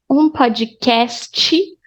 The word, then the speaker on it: podcast: Ouvi, look at this E here, podcast. Podcast in Portuguese is pronounced pod, like podcast, as there was an E at the end.